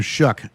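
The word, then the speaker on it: Shough: And maybe this isn't as big of a surprise because for me, last year when he got drafted, Tyler Shuck, as I believe his last name is pronounced, Tyler Shuck was kind of the laughing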